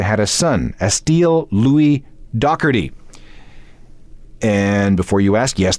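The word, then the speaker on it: Doherty: Pete D's last name that's the way the British do it anyway back to Liam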